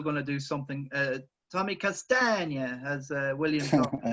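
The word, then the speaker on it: Castagne: Tommy Castagna, as William taught me how to pronounce, and Justin will do something.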